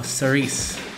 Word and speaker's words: Cerise: you everyone out there I believe it's now cerise so I'll just call her series from now on as far as